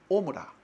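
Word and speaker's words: עמורה: 또한 소돔과 고무라에 대해서도 쓸 때에 이런 단어를 썼습니다.이 우리가 고모라로 하는데 원래 히브리 원문에는 오므라. 예. 오므라. 근데 이제 좀 이렇게 발음하기 좋게 예. 아이거든요. 발음이 그 발음하기 어려워요. 그래서 고모하라고 이렇게 했습니다.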